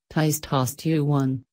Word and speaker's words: testosterone: At puberty, guys' hearts begin producing a lot of the hormone testosterone, pronounced ties-TOSS-tuh-one, which makes changes in some parts of the body, including the voice.